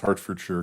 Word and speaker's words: Hertfordshire: I lived in Massachusetts for 30 years, so I'm familiar with it's spelled Hertfordshire, but it's pronounced Hertfordshire because I live near Worcester and Dorchester and Needham.